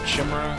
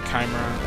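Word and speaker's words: Chimera: fight another Kimera some some people pronounce it chimra I pronounce it kimra I don't know what's appropriate what's correct but kimra sounds cool looks like we're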